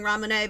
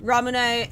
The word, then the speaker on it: Ramune: I'm just saying Ramune because it's Japan and that's how it would be said, I guess.